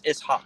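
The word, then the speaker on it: إسحاق: So just to let you know, because some people might know, it is SH, but it's not pronounced that way. It's Ishaq.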